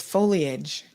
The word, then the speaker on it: foliage: yeah listen uh here here comes the pronunciation police she says it's foliage all right all right